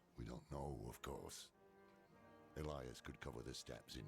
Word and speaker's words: Elias: I've always wondered if people knew that that's how you pronounce Elias and not like Elas or something.